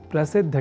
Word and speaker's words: प्रसिद्ध: समझकर या न लिखकर हम प्रसिद्ध अर्थात द और बाद में ध इस अक्षर विन्यास से युक्त शब्द प्रसिद्ध का ही लेखन और तदनुसार शुद्ध उच्चारण करेंगे।